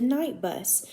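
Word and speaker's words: Knight Bus: to him called the night bus and so and that's spelled with a k not just n-i-g-h-t but k-n-i-g-h-t and so the night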